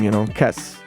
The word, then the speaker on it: Kes: Let's just use your name, Kes.